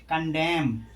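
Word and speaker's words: condemn: इसमें भी देखो कॉलम ना का कहीं हो रहा है नहीं हो रहा है कंडेम यह क्या है कंडेम कंडेम माने होता है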